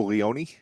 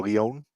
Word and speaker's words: Leon: Ashton Adonis beats Savio Leone or Leon. I hope I'm not mispronouncing that. It is Leon.